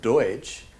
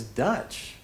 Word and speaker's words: Deutsch: English speakers mispronounced the German word Deutsch as Dutch, and these immigrants became known as the Pennsylvania Dutch.